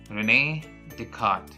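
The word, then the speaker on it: René Descartes: and his name was Renee deart it's difficult to pronounce but this is how the French used to pronounce it Renee deart let us now students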